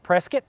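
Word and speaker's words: Prescott: technique the gunsight Academy outside of Prescot rhymes with biscuit Arizona the big news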